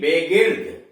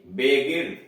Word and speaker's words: begird: इसमें देख रहे हैं कि इनके बाद यानी जी के बाद ई भी आ रहा है, आई भी आ रहा है, फिर भी उच्चारण इसका गो हो रहा है।